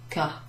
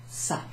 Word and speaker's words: ça: Without that cedilla, this would be pronounced ka, and that wouldn't make sense. We need it to sound like ça.